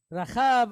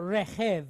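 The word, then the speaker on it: רכב: Rachav, or rechev, actually, in this case.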